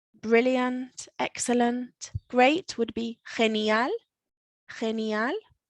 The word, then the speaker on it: genial: We've got the noisy ge sound because we've got the G following an E, genial.